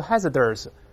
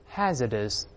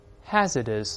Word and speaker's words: hazardous: 有字母 R，所以不要勾舌头，不要读 hazardous，不它不是这么读的，大声来念 hazardous， hazardous，有风险的